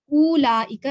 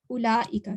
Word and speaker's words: أولئك: Oh, and note that the waw in أولئك is not pronounced. So it's not أولئك, it's just أولئك. There's nothing on the waw, so it's not pronounced.